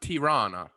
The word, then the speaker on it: Tirana: oh yeah it's right it's no it's actually pronounced tirana he's just east of duress oh yeah yeah